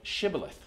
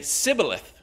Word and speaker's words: shibboleth: would say no and they would say say shibboleth but he would always say sibileth he couldn't say it right then they would grab